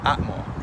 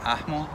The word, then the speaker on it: ahmo: So the Nahuatl word for no is pronounced atmo in classical Nahuatl, but might be pronounced ahmo, ahmo, or amo in modern Nahuatl.